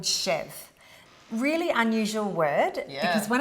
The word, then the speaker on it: chèvre: So the end's that kind of Yeah. So that's why I say to stay safe, just say the first syllable. Let's just call it chèvre.